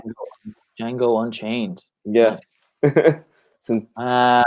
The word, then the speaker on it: Django: Django. The D is mute. Exactly. Just like Django. Django. Django Unchained.